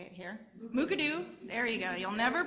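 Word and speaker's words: Mukurtu: directly out of the mooka do platform now mooka doo let's all say it here mooka doo there you go you'll never pronounce it incorrectly again mooka-doo is a waramongu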